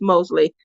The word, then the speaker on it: Mosley: start with Debbie first I was calling her Debbie Morgan her last name is Mosley sorry for mispronouncing your